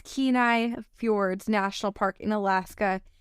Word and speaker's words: Kenai: I thought it was Kenai, how you would pronounce it. Kenai, I can confirm. You can confirm it's Kenai.